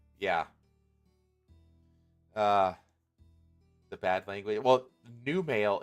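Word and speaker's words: Numale: Well, new male is spelled N-U-M-A-L-E. It's new male.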